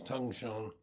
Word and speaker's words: Dongshan: This morning, I'm going to start a series of talks on they're called the five ranks of Tozan, or the Chinese pronunciation is Dongshan, but I prefer the